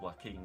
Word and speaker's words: Joaquin: Well, that doesn't, I mean, it's pronounced Joaquin, isn't it?